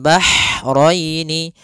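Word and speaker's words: البحرين: Kemudian bahraini, ha, ini hanya ha kecil, hati-hati jangan terbaca dengan ha besar, jangan marajal bahraini, jangan, karena dia huruf ha kecil.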